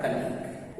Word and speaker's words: colleague: उसी तरह से है दूसरा लेटर है, दूसरा वर्ड है कलीग, COLLEAGUE, यहाँ जी के बाद यू है इसलिए यहाँ यू साइलेंट है, यह हो गया कलीग।